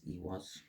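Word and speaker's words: Eihwaz: I think it's Ewas. Yeah, I got it right. First time.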